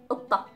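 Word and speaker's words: قطة: And then we have qitta, qitta or utta, utta. So qitta is the cat, qitta, utta. Again, it has the ta and then the t marboota at the end, so the pronunciation of the t was an a, qatta.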